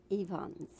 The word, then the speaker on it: Ifans: is rhys yeah and the last name is pronounced stevens evans that's it very good is that rhys yvonne